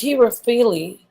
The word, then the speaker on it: Herophile: And her name is Heropyle. That's how you say it? Okay. Heropile. Yeah. Heropyle. Oh no, it's Herophile.